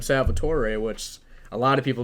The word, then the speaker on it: Salvatore: my first name and even my full name salvatore which a lot of people don't know that's my full name which is crazy and there's some reason they find it difficult to pronounce like salvatore is it that hard because i'll salvatore or